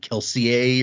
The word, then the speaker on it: Kelsier: like Frenchish and like Kelsier's name was actually like Kelseier or whatever.